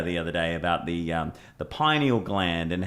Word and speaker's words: pineal: pyramids is the same shape as is it pineal gland? Is that how you pronounce it? Yeah, pineal.